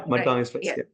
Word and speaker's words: Madgaon Express: And is that how you pronounce it? Yeah, Madgaon Express.